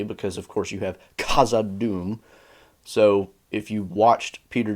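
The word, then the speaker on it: Khazad-dûm: is very specifically trying to pronounce both the K and the H separately and not he's not doing a sound he is doing a Kaza Doom Kaza Doom so that's why it sounds like that similarly again the word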